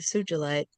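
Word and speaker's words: Sugilite: Sujilite.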